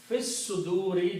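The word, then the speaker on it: فِي الصُّدُورِ: And when you pronounce, it will become Fis suduri, just like fil quburi.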